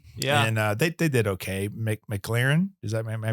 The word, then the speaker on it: McLaren: McLaren, am I pronouncing that right?